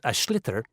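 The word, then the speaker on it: sliotar: basically you have to get this ball called ash litter that's SL IOT a or so it's not spelt the way it's pronounced u his ears into the net for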